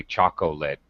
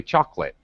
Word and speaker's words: chocolate: Just like chocolate actually has an O in the middle, but native speakers don't say chocolate. We say chocolate.